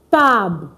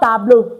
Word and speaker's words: table: Just, you see, it's spelled the same way in English, but it's not pronounced the same way in French. It's not tableau, it's tab.